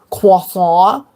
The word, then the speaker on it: croissant: Did you know it's pronounced croissant?